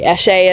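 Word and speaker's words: Eshe: same name as my character from Immortal Jason Essie. I call her Esie and I pronounce it Essie just because I'm an American and I have a Hick accent. Um, but it's actually Eschie is how it's pronounced.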